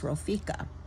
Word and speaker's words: Ropheka: And the word for healer in Hebrew is Ropheka. So he is saying, I am Yahweh Ropheka, your healer. In English, we pronounce that as Jehovah Rapha.